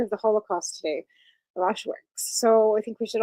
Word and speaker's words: Auschwitz: But today is the 80th anniversary of Auschwitz.